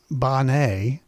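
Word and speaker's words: Benet: Uh her name is Bonnet.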